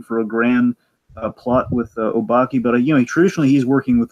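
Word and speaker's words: Obake: Obaki.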